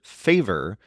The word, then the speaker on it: favor: word favore which is spelled exactly like the English word favor but it's pronounced with the stress on the second syllable favor this is a